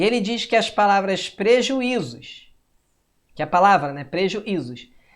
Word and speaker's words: prejuízos: Pois prejuízos trata da regra dos hiatos, preju, e, olha lá, ó, zois. O i sozinho na sílaba se separando de uma vogal anterior.